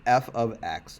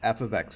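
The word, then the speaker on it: f(x): and be watching this okay so this is pronounced f of x f of x it does not mean f times x it's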